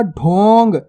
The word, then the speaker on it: ढोंग: ढोंग। देखो ऊपर बिंदी लगी हुई है, यानी कि अनुस्वार की मात्रा, अन या अम की मात्रा भी कहते हैं जिसे।